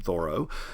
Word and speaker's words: Thoreau: Henry David Thoreau, who wrote Walden, or as he would have pronounced his name, Thoreau.